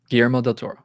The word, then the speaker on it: Guillermo del Toro: GMO del Toro.